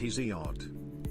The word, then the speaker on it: Hesiod: Remember how earlier I said you should read Hesiod, pronounced Hesiod.